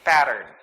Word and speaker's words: pattern: Okay, but most Americans would pronounce it as pattern. They would glide the sound. Okay, pattern. It's like there's D for the two-letter T's here. So instead of saying pattern, Americans would say pattern.